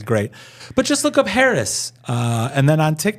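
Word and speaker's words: Haracz: search my name and it's spelled just like it sounds Harris h a r a CZ Harris it's polish all my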